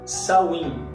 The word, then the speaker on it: Samhain: acreditavam e tinha um festival chamado Samhain, tá? Você vai ver a escrita diferente, mas a pronúncia é essa mesmo.